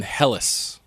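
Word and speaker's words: Hellas: they called themselves hen and they lived in helis h e l l a s even modern Greek I think calls it helis instead of Greece can can I can I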